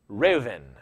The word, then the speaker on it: Reuben: So number 1 is Reuben, and this would have been pronounced Reuven. The B would be a V sound, and this means see, a son, or look, a son.